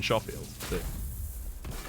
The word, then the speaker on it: Schofield: one appreciate your input schofield schofield i always thought that like that would be the beginner's trap to call it schofield rather than sheffield shows what i know